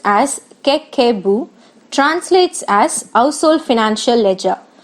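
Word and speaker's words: 家計簿: pronounced as Kekebu, translates as Household Financial Ledger.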